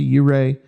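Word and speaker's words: Ouray: the city of Silverton and then over to Uray uh Colorado, which I said it right.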